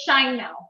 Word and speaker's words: Sheinmel: name pronounced correctly um it's shine now okay thank you did